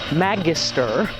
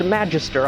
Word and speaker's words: magister: her name is maggie the latin word for teacher is magister or possibly pronounced magister i've seen both pronunciations online so maggie's going to